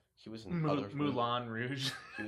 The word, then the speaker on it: Moulin Rouge: Moulin Rouge. Yeah. I mean, that's how it's pronounced.